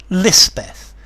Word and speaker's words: Lispeth: baptized the Cota chaplain christened her Elizabeth and lispeth is the hill or pahari pronunciation later Cera came into